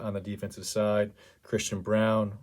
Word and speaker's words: Braun: the defensive side christian brown like i said it's spelled braun but is pronounced brown for whatever reason six six two twenty